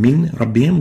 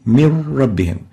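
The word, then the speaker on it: مِنْ رَبِّهِمْ: So instead of saying min rabbihim, we'll say mir rabbihim. No Nun would be pronounced, only a Ra, and the Ra will be like duplicate Ra. It has shadda. Mir rabbihim instead of min rabbihim.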